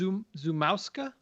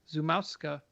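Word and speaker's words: Szumowska: would like Joe to look this up and pronounce because she is Polish. I believe it's Zumowska. Zumowska.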